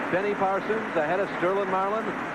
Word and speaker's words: Sterling Marlin: Pole setter Harry Gant runs behind Benny Parsons, ahead of Sterling Marlin. Remember, the G is silent.